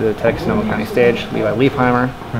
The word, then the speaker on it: Levi Leipheimer: Texas no Makani stage Levi Leipheimer it's like they say bleep how are you Audio is hot before that it's not hot they know how to pronounce my name it's actually live my life I'm yeah they will